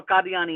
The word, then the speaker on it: Qadiani: So, and I grew up a Qadiani Ahmadi, and that's the proper way to say it.